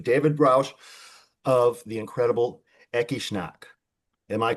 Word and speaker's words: Ecce Shnak: David Roush of the incredible Ekishnack. Am I pronouncing all that correctly?